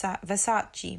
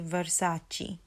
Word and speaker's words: Versace: I used to hear this being said as vers verace Versace that's how I would hear it but it's actually Versace Versace you might be like oh there's not much difference but there's a slight difference there um and the next